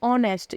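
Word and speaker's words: honest: में क्या है यह ऑनेस्ट इसको नेस्ट नहीं बोलेंगे यहां पर जो हमारा एच है वो साइलेंट है तो इसे हम क्या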